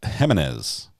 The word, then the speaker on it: Jimenez: see are we correct Jimenez is pronounced Jimenez Jimenez it's a it's a h sound well I appreciate that